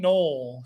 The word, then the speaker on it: Noel: Jaylen Null, spelled Noel but pronounced null, is a Saint.